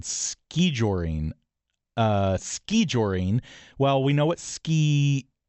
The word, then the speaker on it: skijoring: It's derived from the Norwegian word skijoring as Ross said which has the O with a line through it.